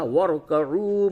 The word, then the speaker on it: وَارْكَعُوا: یہ را ساکن ہے اس سے قبل را ساکن سے ما قبل واو پہ زبر ہے اس را کو بھی پور کر کے پڑھیں گے. اور یہ واو مدہ ہے اسے تھوڑا سا کھینچیے تو یوں ہوگا وَارْكَعُوا مَعَ الرَّاكِعِينَ.